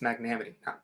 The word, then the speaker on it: magnanimity: It's magnanimity. I always put an extra syllable in there.